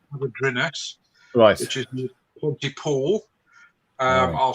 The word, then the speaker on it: Hafodyrynys: We moved from there in October last year to a place called Avadrinus, which is near Pontypool. I'll spell it HAFODYRYNYS.